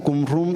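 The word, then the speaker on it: Qumrán: Muerto un lugar llamado Kumram. Actualmente también se pronuncia como cumrum en algunas partes.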